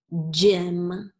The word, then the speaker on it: gym: Our next word is gym. Gym. Okay. J, im, gym. Okay, so I heard j, j, j, which we know is soft G.